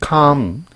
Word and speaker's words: calm: stay calm L이 묵음이에요. stay calm 침착함을 유지하다.